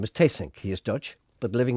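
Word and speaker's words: Theessink: Hans tasink's wife and manager Melissa you actually pronounce his name is taysync he is Dutch but living in Vienna as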